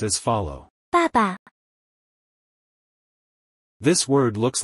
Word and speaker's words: 爸爸: word of dad or father this word is pronounced as follow Papa this word looks like the images of two